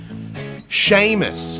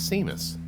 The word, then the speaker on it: Sheamus: talking about new cats Sheamus no I did not want to pronounce it as Seamus my pronunciation is seamless